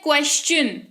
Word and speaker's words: question: लेकिन उसके बाद QUESTION, इसको पढ़ते हैं क्वेश्चन।